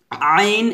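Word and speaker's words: ع: আইন, আইনের 4 লিপ টান হবে। আমার সাথে পড়েন আইন। আবার বলেন এভাবে চাপ দিয়ে বলতে হবে আইন।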